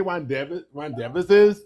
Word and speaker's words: rendezvous: You really want to say rendezvous, but it's not. It's rendezvous.